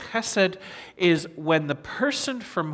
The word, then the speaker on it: chesed: It's the Hebrew word chesed, and that's one of the things I love about Hebrew is it gets in the back of the throat, chesed. You have to say it like that.